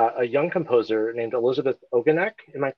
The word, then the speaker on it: Ogonek: which is by a young composer named Elizabeth Ogonek. Am I pronouncing her name correctly? Oh, Ogonek. Ogonek.